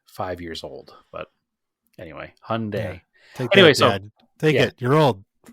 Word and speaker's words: Hyundai: and the commercial was hyundai like sunday ah so yeah he